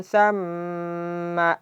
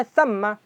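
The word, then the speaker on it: ثَمَّ: Lanjutannya tsamma amin. Okey. Di sini ada tsamma. Jadi pas ee harus kita bedakan antara tsamma dengan tsumma. Jadi jangan sampai karena seringnya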